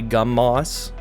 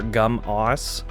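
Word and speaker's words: Gumoss: Gumas, that's just how it looks to me. I'm sure you can say Gummoss or Gum-os, but Gumas just sounds better in my head.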